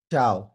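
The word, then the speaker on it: ciao: এবার বুঝলাম এটা কেমনে উচ্চারণ হলো চাও নর চিয়াও কারণ মাঝখানের ইটা উজ্য থাকবে উচ্চারণ হবে না ওকে এখন আমি যদি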